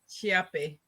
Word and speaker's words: Chiappe: wrong hi everyone um it's pronounced chiape Champion I wasn't even